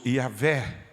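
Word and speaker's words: Yahweh: tetragrama hebraico a h yw h eu sou yahvé pronunciando no correto o qual transliterado para nós pessoal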